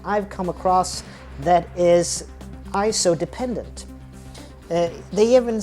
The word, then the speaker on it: ISO: Tony and Chelsea Northrup, they're the ones that it's pronounced ISO, not ISO.